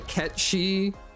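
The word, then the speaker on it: Cait Sith: occurred to me that it she is pronounced very similarly to Ketchi, like the correct way to say what Final Fantasy calls Kate Sith.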